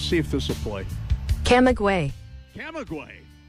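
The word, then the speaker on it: Camagüey: Camaguey is how it says. Camaguey.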